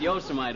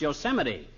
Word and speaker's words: Yosemite: No, not Yosemite, old-timer. That's pronounced Yosemite.